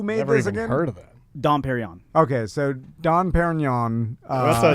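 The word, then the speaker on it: Dom Pérignon: so now who may have heard of that dom perignon okay so don perignon uh champagne made who's don perry don carry on my wayward son how do you pronounce it perryon don perrion correct that's pretty good i did not know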